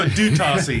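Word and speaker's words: d'Utassy: Well, Hayes is going to change his mind certainly on Dietzi, or how do you pronounce it here? I go Dutassi. Dutassi. Yeah. I'm going to say Dietzi because that's how I pronounce it.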